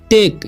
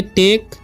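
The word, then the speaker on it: take: टू टेक, इसे पढ़ेंगे टेक, टाके नहीं पढ़ना है, पेमेंट।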